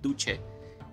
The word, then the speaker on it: duce: Ya saben que le decían a este señor, a Mussolini, le decían il duce, o bueno, más bien su pronunciación en italiano sería il duce, que se pronuncia, que